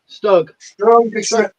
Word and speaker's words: StuG: How do you pronounce that fucking word? Stumskulk. Thank you. What? Stug.